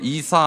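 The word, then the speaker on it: عيسى: 대한 기록이 있는데 여러분 코란에는 예수라고 안 쓰 있습니다 뭐라고 쓰 있냐면 따라하세요 이사 알마시이 이사가 의 아 발음이에요 예수가 아니고 이사 알마는 메시 메시아의 아랍어 발음이에요 그래서 이사 마씨가 예수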